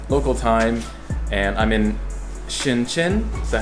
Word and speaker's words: Shenzhen: It is 11:30 Friday night, local time, and I'm in ShenZhen. Is that how you say it? ShenZhen? Yeah. ShenZhen.